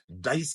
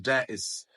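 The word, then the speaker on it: dais: miss pronounce करते हैं वो इसको डाइस कहते हैं दिस नॉट डाइस दिस इ डस डस मैंने इनके सामने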